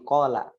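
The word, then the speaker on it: قال: Gambar yang pertama dulu di qala ya. Qala gitu bacanya.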